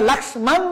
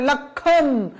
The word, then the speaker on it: লক্ষণ: বর্ণ সেজন্য চন্দ্রবিন্দু হয়েছে এটা হচ্ছে লাক্সমান আমরা লাক্সান বলি না আমরা বলি লক্ষণ এইজন্য ম বর্ণটা লোভ